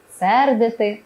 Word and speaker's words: сердити: там склад слід пам'ятати наголошуємо на перший склад такі дієслова кидати сердити слинити хльосати вудити кроїти